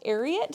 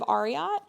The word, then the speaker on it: Ariat: So, I'm so sorry if I've been bugging everyone, but I think it's pronounced Ariat instead of Arot.